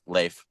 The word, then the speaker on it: Leif: um what was it Leaf Leif Leif I it's I don't think it's spelled that way but I just think about it like l a i f Leif Le okay yeah that's